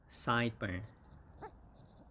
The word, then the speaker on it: sideburn: it's very important one sideburn sideburn and the stress is on the first syllable and it's side and like that so side burn side burn so sideburn